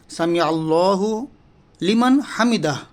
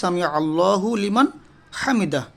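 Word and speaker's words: سَمِعَ اللهُ لِمَنْ حَمِدَهُ: তারপর রুকু থেকে ওঠার পর আমরা যে দোয়াটা পড়ি সেটা হচ্ছে সামি আল্লাহু লিমান হামিদা, কিন্তু আসলে আমরা এটা সামি আল্লাহ বলি, আল্লাহ না, এটা সামি আইন, সামি আল্লাহু লিমান হামিদা, অর্থাৎ সামি মানে শুনছেন, আল্লাহ শুনছেন যে তার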